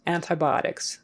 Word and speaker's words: antibiotics: take some antibiotics but you will probably hear people smoosh it all together antibiotics antibiotics like you can hardly hear that t but you won't get criticized for not pronouncing the t but to be on the safe side pronounce all your sounds antibiotics antibiotics okay um